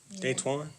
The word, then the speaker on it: Daytwan: Is that DeAntoine? How would you pronounce it? I don't want to mispronounce my man's name. Daytwan? Daytwan. Okay.